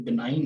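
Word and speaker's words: benign: और इसी तरह से ये जो है यहाँ पे बिनाइन है, और इसको यानी जी यहाँ पे साकिन रहती है।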